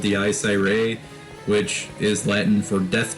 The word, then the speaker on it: Dies Irae: I say it wrong. It's Dies Irae or whatever. I like to say Dice Irae because it just sounds cool. It's like Dice Ray.